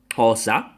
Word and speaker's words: Xhosa: Let me help y'all out with that word. That's an X pronunciation in Bantu, Xhosa.